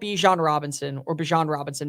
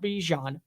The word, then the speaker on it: Bijan Robinson: I think that Bijan Robinson, my apologies, because that's how you say his name, not Bijan, is going to be